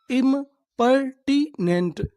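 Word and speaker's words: impertinent: अगर आपको इंग्लिश में कहीं पर पीई आर लिखा मिले तो हम लोग पीई आर को पढ़ते हैं पर।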